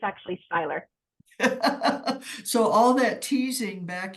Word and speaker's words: Seyler: I it was you know I was called sailor girl but it's actually Styler so all that teasing back in high school